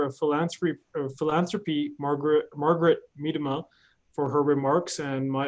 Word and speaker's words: Miedema: to the director of philanthropy philanthropy Margaret Margaret Miedema for her remarks and my apologies Margaret if I have not pronounced your name correctly no you actually you